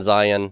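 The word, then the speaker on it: Zayin: That is not really, no, that our English pronunciation, Zion, matches what the name of the letter is, but it's not the word Zion in Hebrew. In Hebrew, it's Zion.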